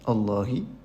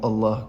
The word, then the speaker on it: Allah: mot qui le précède, le lam change et on dit il devient la au lieu de la. Le la c'est le vrai a en français qu'on prononce dans le mot Allah quand le quand quand ce mot est précédé de d' main ou de fatha.